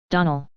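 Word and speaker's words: Donnell: would set it right Donal Accent on the last syllable n s CLA on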